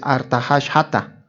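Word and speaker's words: ארתחששתא: Aquí no dice Artajerjes, la pronunciación en el hebreo es Artahashata, así es.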